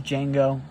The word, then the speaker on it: Django: Um, and then here's Django. The D is silent.